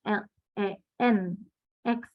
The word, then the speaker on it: ln: Nah, len itu dia penulisannya bukan LEN, enggak, tapi LN, penulisan untuk si logaritma asli. Nah, karena dia sudah penulisannya beda, berarti selanjutnya kita tulisnya LEN, X, len X bacanya.